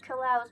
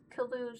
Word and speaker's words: Klaus: I think it's pronounced Klaus, but I'll read it Kalous because it's funnier and I have hair in my eye and it hurts.